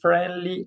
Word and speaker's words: friendly: You don't pronounce this I.